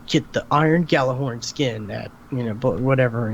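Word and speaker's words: Gjallarhorn: horn thank thankfully it Auto thankfully Google can G jalah horn like people were really calling it that and then like the pre-order video said get the iron Galah horn skin that you know whatever you know and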